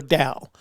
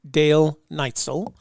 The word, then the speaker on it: Dale Neitzel: closer me or dal now that's a mispronunciation of dale's name dale's name is dale neitzel so um memorize that even though it looks like dell and it looks like neitzel it is neither of those it's dale knightsell like